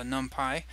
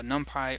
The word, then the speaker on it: NumPy: install the latest uh numpy uh by the way this can be pronounced either numpy or numpy um that short for